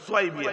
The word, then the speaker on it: সোয়াইবিয়া: বাঁধি নাম হচ্ছে সোয়াইবিয়া যাকে সাউবিয়া সাউবিয়া বলে সাউবিয়া আরবি উচ্চারণ নাই সোয়াইবিয়া আরবি উচ্চারণ ঐশি যখন বললো হ্যাঁ